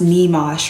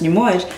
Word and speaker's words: Nyamuoch: I'm like, yo, like, my name is not pronounced Nee-mosh, right? Like in my language, it's pronounced Nyamuoch.